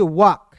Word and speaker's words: walk: उसके बाद देखिए यहाँ पे WALK, तो इसे पढ़ेंगे वाल्क नहीं पढ़ेंगे, एल इसमें साइलेंट कीजिएगा, इसे पढ़ेंगे वाक।